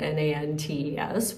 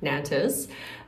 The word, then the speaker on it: Nantes: So I spelled it out N-A-N-T-E-S, which in my English speaking brain would be Nantes. And apparently it's pronounced no. Like, so basically similar to N-O-N-T. So a lot of sounds don't really happen there.